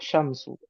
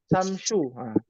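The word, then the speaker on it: الشمس: dengan namanya huruf Syamsiah Syamsu Apa arti Syamsu matahari matahari yang pertama huruf syin ada titik tiganya yang kedua huruf Sin jangan sampai Terbalik ya Samsu atau Samsu wah sysu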